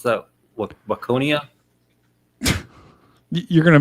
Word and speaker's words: Waconia: How do you pronounce that? Waconia? You're gonna mispronounce. How about Wacona?